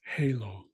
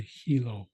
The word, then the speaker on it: halo: or hello everybody and none is Halo Halo and again they could say Hilo as well so all Conway none Halo or Hilo to live you also